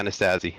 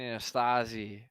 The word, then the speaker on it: Anastasi: Anastasi? Is that how you pronounce it? Yeah, Anastasi. Yeah, that's my brother. Oh man, I've been saying Anastasi.